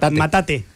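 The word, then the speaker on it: Mátate, amor: 2012 puede ser Sí el acento en la segunda matate matate amor eh es de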